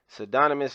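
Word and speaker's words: pseudonymous: look this up okay okay so the p is silent psydonymous sedonamus letter known as the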